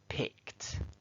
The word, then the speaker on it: picked: Pick becomes picked.